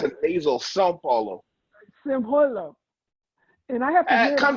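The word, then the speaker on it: São Paulo: now he's in Brazil San Paulo Brazil I'm not pronouncing that right well we don't have in the English language anyway to pronounce the little squiggly line over the a it's an easel Sao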